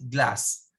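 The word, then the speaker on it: glace: okay that is glaze pero you pronounce it glass okay glacia and canyon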